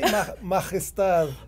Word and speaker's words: Majestad: Well, you could say Majestad. Ooh, I like that better. I like that a lot better. You have to roll your R's and, and pull that J.